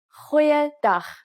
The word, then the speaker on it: Goeiedag: Try pronouncing it from the back of your throat. Goeiedag, goeiedag, ek is Anne-Marie Luck.